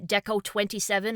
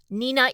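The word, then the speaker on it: DECO*27: loud, but strictly speaking, Nenina is the proper pronunciation. Apparently, two and seven are his favorite numbers and put together they can be pronounced Nenina.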